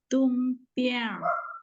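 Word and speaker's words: 东边: 东边 Oh, nada satu-satu, Bu. 东边 Ya, oh, ya, nada satu itu datar ya, ditarik agak panjang.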